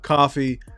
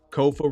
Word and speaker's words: Kofa: K-O-F-A. Not coffee, not kufu, not Kofi, or any variation thereof. Kofa rhymes with sofa.